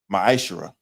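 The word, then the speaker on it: מעשר: Means 10th in Hebrew and is pronounced ma'ashera.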